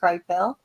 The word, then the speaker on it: Krypell: It's spelled Krypell, and it's Charles Kripel.